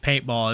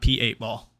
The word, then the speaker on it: p8ball: and easy to find gotcha so it's just paintball it's not p8 ball paintball yeah okay so you own and operate